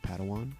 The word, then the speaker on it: Padawan: to this bold Jedi it's pronounced Padawan oh Padawan excuse me